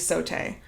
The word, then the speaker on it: sauté: It is sauté.